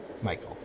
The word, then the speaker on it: Michel: it's a weird pronunciation it's a weird spelling of Michael it is m-i-c-h-e-l Michael which is not the way I usually see Michael's film it's like halfway between Michael and Michelle yeah that's why I